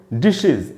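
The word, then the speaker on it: dishes: उसके बाद दोस्तों, अगर कोई भी वर्ड एस एच से खत्म हो रहा हो, उसके एंड में हमने एस या ईएस लगाया तो उसका भी उच्चारण इज करके होगा। जैसे डिशेज, डिश, और उसमें ईएस लगाया तो उसको पढ़ेंगे डिशेज, इसको भी डिशेज नहीं पढ़ना चाहिए।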